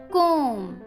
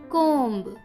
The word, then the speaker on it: कोम: तो वर्ड जो है वो है कोम, ना कि कोम्ब. बी यहाँ साइलेंट है इसलिए हम इसे बोलेंगे कोम. कोम.